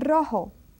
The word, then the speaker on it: rojo: And then if this R is one R, initial R, it pronounced just as if it were a double R. That's why they're together in these rules. Roberto. Rosa is a rose, and rojo is the red color. Rojo, rosa, Roberto, and then carro, perro. You see, you can hear that they are strongly pronounced.